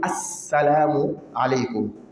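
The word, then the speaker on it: السلام عليكم: En fait, c'est al, le A et puis le la, celui qui connaît. A et le la. Seulement que le la ici n'est pas prononcé. À cause d'une règle de la langue arabe, on appelle harf shamsi. Lorsque le harf shamsi vient après le la, on ne le prononce pas. Mais seulement on met shidda sur le sa. On dit assalamu alaykum.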